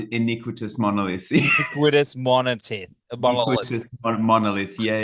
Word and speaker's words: Iniquitous Monolith: much man the new inous monolith inous monolith I said it right e all so close man we get it all the time iniquitous monolith iniquitous mon month monolith